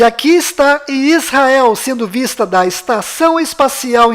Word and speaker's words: Yisrael: Então a pronúncia correta desta palavra é I, S, Ra, El. Aqui está localizado Israel no mapa. E aqui está Israel sendo vista da Estação Espacial Internacional.